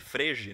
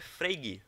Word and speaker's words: Frege: Só que a gente pode ler Frege, né? Só que a pronúncia é Frege, tá?